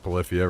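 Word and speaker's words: Polyphia: I don't know if you've ever heard of uh I think it's pronounced Palifia, right? Something like this.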